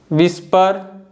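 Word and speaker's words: whisper: Weather, विस्पर, वाई।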